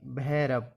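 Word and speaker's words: Bhairav: बी एन ए भावना बी के बाद एच आए तो भा बनता है इसके यह उदाहरण है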